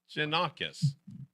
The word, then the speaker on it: Gianakos: And it's Gianakos, right? Gianakos. That's it.